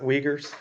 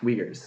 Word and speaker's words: Uyghurs: how do you pronounce it? Uyghurs. Uyghurs.